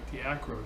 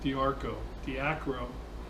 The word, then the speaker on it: Diacro: Said it right, Diacro, not Diarco.